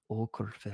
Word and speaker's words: Åkerfeldt: Åkerfeldt.